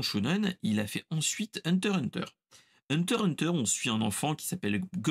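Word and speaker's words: Hunter × Hunter: sur le studioination mais normalement c'est pas Hunter x Hunter c'est Hunter Hunter parce que on nous a dit dernièrement que c'était la bonne la bonne prononciation mais moi j'aime bien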